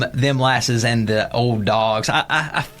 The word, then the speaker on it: Them Lasses: It's THEMLASSES. not dim glasses, not sweet molasses. Right. Them lasses.